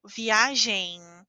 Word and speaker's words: viagem: Quando a letra M está ao final da palavra, nós falamos como se fosse a letra N. Então eu digo viagem.